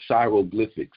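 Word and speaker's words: Shairoglyphics: And it's really just Shy, S-H-A-I, and then Roglyphics, you know what I mean? Like hieroglyphics, because Shy is Egyptian.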